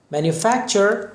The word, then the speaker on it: manufacture: ببینید تی و یو چه تلفظ میشه. manufacture ساختن.